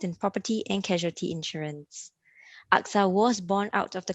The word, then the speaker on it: AXA: Okay, there may be some companies that are pronounced by the alphabet itself, but we are pronounced as AXA and not AXA.